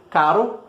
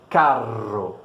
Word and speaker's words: carro: A única coisa que mudou realmente é a duração desse R no primeiro caro e no segundo carro, né?